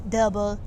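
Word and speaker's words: dubbel: how to say it if it was like dubelle or yeah dubin or what did you learn it just said double i didn't know how to pronounce what's that word d-u-b-o the last word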